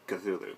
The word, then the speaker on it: Cthulhu: it is to actually stick your tongue to the roof of your mouth and cough out the name so it's a lot